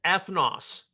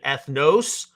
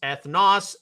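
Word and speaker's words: ἔθνος: Some of you may be akin to hearing the pronunciation ethnos. No, it's ethnos, as I was taught how to pronounce it, because it's an omicron, not an omega.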